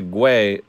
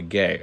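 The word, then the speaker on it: Guay: power be locked down look up rebecca guy uh oh rebecca gay okay that's how you pronounce it uh lands the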